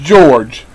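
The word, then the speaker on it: Jorge: He writes, a short story by Argentine writer George Luis Borges, and his name is spelled J-O-R-J-E-G-E, George, and it's pronounced George, because I have a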